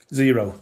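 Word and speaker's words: Xero: Zero. Oh, it's actually called Zero. Yeah, like the number.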